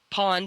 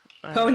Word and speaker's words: pwn: another, keep calm and pawn the noobs. Pwn the noobs. Yeah. Oh my gosh, I had to get it together. Just kidding. I've always pronounced it pawn. You know, it actually comes from chess.